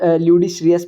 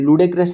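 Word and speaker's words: ludicrous: लूडेक्रस इसको पढ़ते हैं, लूडेक्रस। मैं कई बार ल्यूडिश्रियस पढ़ लेता था, लेकिन लूडेक्रस इसका सही प्रोनाउंसिएशन होता है।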